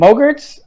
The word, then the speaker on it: MOGRT: at adobe stock and mogarts they're not little gremlins it rhymes with yogurt stuff um but they're